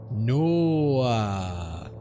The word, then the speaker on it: NOAA: Administration in 1997, which, when turned into an acronym and pronounced phonetically, is a lot more fun to say. Come on, say it with me. NOAA.